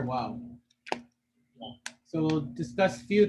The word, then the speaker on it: Waw: So a Waw is pronounced by joining the lips where you make them go in a forward direction.